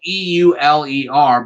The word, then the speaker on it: Euler: guy named euler now i know his name is spelled e-u-l-e-r but his name is pronounced euler and this